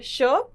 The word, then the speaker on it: क्ष: क और श को जोड़ के बनता है श। यहां आप देख सकते हैं क का उच्चारण कम होता है और श का उच्चारण पूरा होता है। ये होता है श।